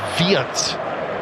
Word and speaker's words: Wirtz: And for the pronunciation police, in German, it would be Florian Wirtz. But I think you'll find it is anglicised to Wirtz. But I might be wrong.